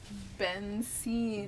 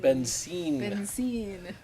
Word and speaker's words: Benzin: Pronounced Benzine. Benzine.